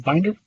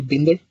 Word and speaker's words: Binder: So it's actually Austrian from the beginning, but today my name is Binder, or Binder, which is the Swedish pronunciation of it.